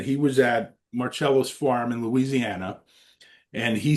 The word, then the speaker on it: Marcello: It's not Marcelo, Bill. It's pronounced Marello.